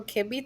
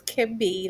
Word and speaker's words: KINB: It's pronounced as Kimby. Like, I know Can I be. can be what I want to be. All right. That's no song pops in my head every time. It really does. I love that So it's song. pronounced, it's spelled Kinb, but it's pronounced Can and then B.